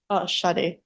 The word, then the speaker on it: Sade: I don't know if this is pronounced Sade or Sadie. Sade.